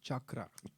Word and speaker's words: chakra: It's pronounced chakra. Chakra. Yeah, like Chuck Norris.